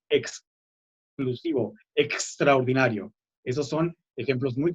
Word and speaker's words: exclusivo: Los sonidos X también, hay que marcar bien la X, no que no se escuche como S. Mucha gente dice exclusivo cuando es exclusivo, extraordinario.